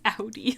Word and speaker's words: Ori: to me uh and it's Audi like the car okay PCM I was